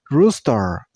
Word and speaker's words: rooster: Rooster. So let's move to the next bird. This one. How do you pronounce this? This name has 3 syllables. Woodpecker. And you also stress on the first syllable.